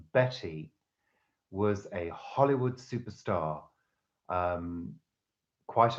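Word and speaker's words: Bette: now Sara Betty Davis spelt be e TT e but pronounced Betty was a Hollywood superstar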